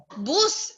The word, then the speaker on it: boots: Boots. There's letter T. This one, you have to pronounce this one letter T.